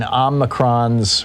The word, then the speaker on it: omicron: the reason we're in omnicron's or omicron's cross i've heard a pronounce both ways typically omicron um in omacron squad